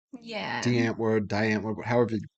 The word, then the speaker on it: Die Antwoord: rather hear them say die N-word than die Antword," right? So Okay. he changed the way he pronounced the band's name to make it rhyme. Yeah. Antwoord, die Antwoord, however you pronounce it.